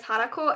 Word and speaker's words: Hanako: It's neither. So my full online name is Hanako, and it's spelled Hanako. So if you shorten that to Hana, which is completely fair, it would be just Hana.